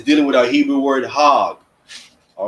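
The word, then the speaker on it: חג: with that nonsense so it's it's called It's pronounced hog right so the the word the English word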